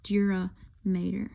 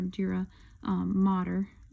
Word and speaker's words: dura mater: But all of this white material here is a thick connective tissue covering called the dura mater, okay, or dura mater, as some people pronounce it.